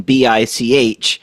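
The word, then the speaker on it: Bich: got a sister that's her name is written B-I-C-H, then her sister is saying, it's pronounced Bic, okay?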